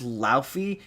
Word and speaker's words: Laufey: Like, the logo, the word, by the way, it's pronounced Laufey.